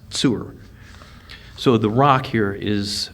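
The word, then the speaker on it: צור: same root that's used for the city commonly pronounced tyre but it's actually pronounced sewer so the rock here is is a fortification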